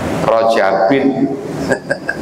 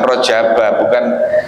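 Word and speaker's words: rajabin: Nah, kalau rojaban berarti Allahumma barik lana fi rojabin bukan rojaba, bukan isim ghairul munsharif mestinya.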